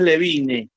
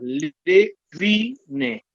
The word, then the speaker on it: Levine: A Karina siempre Karina, el apellido es Levine, o sea, son 3 sílabas, es una palabra grave con 3 sílabas, Levine. Y siempre la presentan mal, siempre dicen Levine. Mucha gente la presenta como Levine.